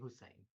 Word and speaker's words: Hussein: Hussein. Yes. Am I getting that right? I'm sorry, I'm not from here. My accent's a little weird, You I know. pronounced it correctly, Hussein.